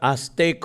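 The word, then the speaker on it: Aztec: नाव आजेक संस्कृती होतं English spelling हे होतं पण उच्चार आजेक होतो त्यांनी जाऊन उद्ध्वस्त केली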